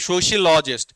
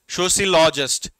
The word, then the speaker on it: sociologist: Next, sociologist, sociologist या फिर sociologist, sociologist। दोनों तरीके से दो प्रोनाउंसिएशन दिए गए हैं।